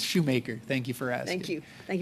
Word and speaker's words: Shoemaker: I'm sorry, is your name pronounced Shoemaker or Schumacher? Don't worry, people within my own organization get it wrong. It's Shoemaker.